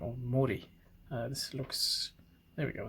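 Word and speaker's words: 森: This one goes by the name of Mori.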